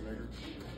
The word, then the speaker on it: Reger: against Earlene and Lester Reger. Am I pronouncing that right, Reger? Reger? Thank you.